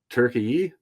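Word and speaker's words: Türkiye: It's not Turkey. It's Turkey. It's got an e sound on the end. A ye.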